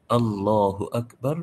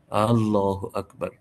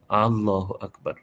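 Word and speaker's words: الله أكبر: কোন ব্যক্তি এইভাবে বলে আল্লাহু আকবার এই যে আল্লাহ এর শুরুতে যে হামজাটা এটা যদি কেউ লম্বা করে পড়ে আল্লাহু আকবার নামাজ হবে না কারণ তখন অর্থ হবে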